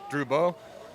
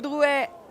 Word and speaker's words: Drouet: This is Droubeau. Drouet, on course. Horrible French pronunciation.